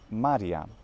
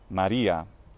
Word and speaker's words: maria: a neuter word and the plural is Maryam not Maria that's of course a name whereas Maria in English